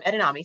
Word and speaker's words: edamame: Well, you did say it right the first time, edamame.